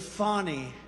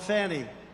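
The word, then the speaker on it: Fani: But many, many people, their lives have been destroyed because of Fonnie, F-A-N-I, Fonnie. You have to pronounce it Fonnie. It's called Fanny. You have to pronounce Fonnie.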